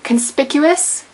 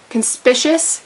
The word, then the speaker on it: conspicuous: is Freud not frud the word is conspicuous not conspicious even though it's spelled like suspicious and delicious that one kind of sucks but it is conspicuous you do pronounce the sea as a hard sea reim not reg or